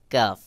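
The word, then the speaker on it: كاف: যেমন কাফ উচ্চারণের ক্ষেত্রে হালকা বাহিরের দিকে বাতাস বের হবে, আর কাফকে পাতলা করে উচ্চারণ করতে হবে স্বাভাবিকভাবে। যেমন কাফ, কাফ, কাফ।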